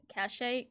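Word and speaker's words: cachet: enough C cash it cash a c what's that word Cas why is there a t anyway um this is a French thing but it's bled over heavily into English the te is silent sorry okay anyway I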